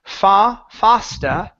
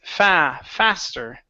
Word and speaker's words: faster: Right here, instead of fasta, okay, it's faster. Oh, okay.